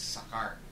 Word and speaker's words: Sakaar: It's spelled kasi Skaar, so it's Sakaar.